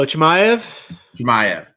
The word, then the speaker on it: Chimaev: All right, you're gonna have to pronounce how do you pronounce his opponent's name, man? Oh, Chimaev.